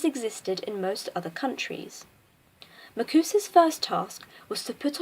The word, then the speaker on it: MACUSA: Known to all American witches and wizards by the abbreviation MACUSA, commonly pronounced as Ma-Cus-A, it was the first